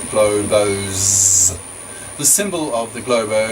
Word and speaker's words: globos: Its plural form is globos, pronounced globos.